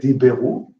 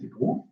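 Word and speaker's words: דִּבְּרוּ: You don't get diberu, you get dibru.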